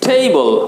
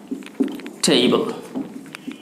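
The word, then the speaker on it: table: তাহলে the book is অন দ্য টেবল। ওকে, তাহলে আপনাকে কিন্তু দ্য বুক ইজ এখান থেকে অন নিতে হবে, অন দ্য টেবল। এই যে টেবিল, টেবিলের উচ্চারণ কিন্তু টেবিল এরকম করে বললেই হবে না, টেবল।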